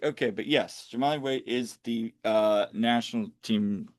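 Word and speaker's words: Jahmali Waite: Um so and uh and and just a real correction, I mispronounced the goalkeeper for Tampa. It's Jamali Wait.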